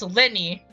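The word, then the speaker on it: Lyney: featured here is Lenny yes I got his name wrong uh don't judge me but uh yeah it's Lenny um that is his actual pronunciation so yeah so here's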